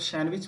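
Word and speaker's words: sandwich: जैसे hanker cheap है, और यहाँ पर जो आप लोग पढ़ते हैं वेडनेसडे उच्चारण करते हैं, वेडनेसडे पढ़ना चाहिए। नेक्स्ट आता है सैंडविच पढ़ते हैं तो सैंडविच पढ़ना चाहिए।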